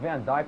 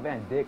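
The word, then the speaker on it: Van Dijk: died hey you know what's pronounced Van Dyke not Van Dick get off my dick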